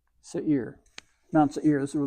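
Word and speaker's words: שעיר: Here's the sin, full note E into the ain, carrying an E sound into the yod, which gives it this ya added to this. It's a diphthong giving a longer E sound, and this is a rounded resh. So this is Seir.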